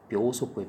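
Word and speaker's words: 秒速: 지속구는 저번에 뭐 시속했었는데 이게 초속이 발음이 되게 재밌어요. 이게 묘속구예요. 묘속구. 그냥 읽으면 막 초속구 이럴 것 같은데 묘속구입니다. 묘속구.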